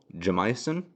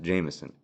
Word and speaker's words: Jameson: uncommon, people don't know how to pronounce the I. They actually overpronounce it. So my whole life, they go, "Oh, Jamison? Jamison?" No, it's just Jameson.